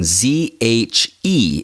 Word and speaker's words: zhe: Now remember, the E at the end of a word in Chinese sounds like like you're getting punched in the stomach or like you're grossed out.